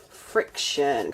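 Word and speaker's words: Frixion: So, let's write Pilot Friction cuz it's spelled F R I X O N.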